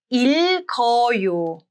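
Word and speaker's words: 읽어요: If there are two bachim, only the second bachim moves to the next syllable, and then both are pronounced.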